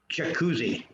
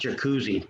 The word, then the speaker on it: Jacuzzi: But if you look at their name wasn't always pronounced jacuzzi. It's been modified. It was pronounced Yakutsi. Because the J, we know, wasn't really around a lot long ago. Okay, so it was always pronounced Ya, and even the word Jacob was Yaakov, right? It wasn't J, it was a Ya sound.